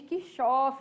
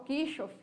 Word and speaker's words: Kirchhoff: paralelo, e também falamos aí da lei de Kirchhoff, né, pessoal? Ou Kirchhoff, como vocês se sentirem mais à vontade aí em pronunciar.